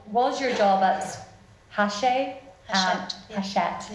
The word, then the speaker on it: Hachette: Hachette. I was going to say Hatchet, which is the wrong pronunciation.